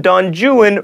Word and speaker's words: Don Juan: is Don Juan but in Byron's epic poem Don juin rhymes with ruin he would not explode